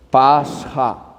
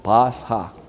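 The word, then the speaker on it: πάσχα: Pasja, se dice, Pasja.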